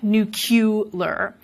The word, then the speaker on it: nuclear: what's happened here, that there may be some metathesis involved as the vowel and the L switch places, but then there's also the insertion of that y, nuclear. That is probably through analogy with a word like molecular, nuclear.